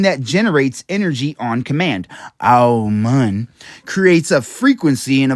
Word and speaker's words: Amun: Amun. Now, let's say it correctly. Let's not say Amun, right, because that's English. Let's not say Amen, because that's Greek. Let's say Amun. You know, the actual way